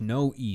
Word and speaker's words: Noe: So you're saying you need to pronounce the E. I thought you were saying there's no E sound. But you were saying no E as in that's how I should pronounce it.